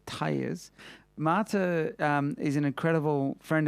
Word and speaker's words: Tellez: even get that right not like tires on the car but mata tires mata is an incredible